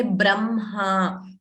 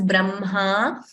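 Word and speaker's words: ब्रह्म: First M and then Ha. We don't say Hma. Ha is not pronounced first. So we don't say Brahma. We say Brahma.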